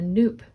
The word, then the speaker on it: nupp: how to add a Nupp to your knitting. Nupp is spelled N-U-P-P, and it rhymes with soup, so that's how you can remember how to say it.